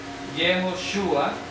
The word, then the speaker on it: Yehoshua: hacemos cuando hablamos de jehoshua vamos Air la pronunciación yoshua este signo de aquí indica s es es